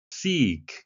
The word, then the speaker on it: seek: seek 길게 발음해 주셔야 되겠습니다. 짧게 하면 아프다라는 의미가 되겠죠.